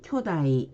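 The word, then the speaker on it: 巨大: 거인 할 때는 쿄진, 거대일 때는 쿄다이 이렇게 짧게 발음을 해주시면 되고요.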